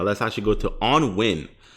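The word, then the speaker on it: Nguyen: go to on win i know the name is like on nugent but you know i mean if you pronounce properly is like win so i don't i don't really know i guess you you ignore the n and the g and just use the you you win kind of thing so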